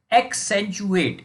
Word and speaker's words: accentuate: आर the costumes of the fighter in the pick एक्सेंचुएट एक्सेंचुएट, इसका pronunciation देखिए, यहाँ पर पहले प्रोनाउंसिएशन पे आते